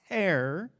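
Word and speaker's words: טָהוֹר: The Hebrew words, all right, clean is taher, and unclean is tameh. Okay, that's how you pronounce those words.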